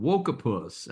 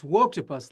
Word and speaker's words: Woketopus: Uh the new book is called Wokus. I hope I'm pronouncing that the way you intended. So tell us about the new book and why people should read it. Yeah, it's Woketopus like woke octopus.